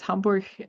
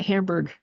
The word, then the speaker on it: Hamburg: It's like it's not Hamburg because you're not eating it.